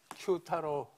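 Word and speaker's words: 久太郎: 오늘날은 이게 오사카에서 이 명칭은 구다라가 아니고 큐타로라고 읽습니다. 지금도 저 지역은 그새 번화가로 있습니다. 큐타로 맞지?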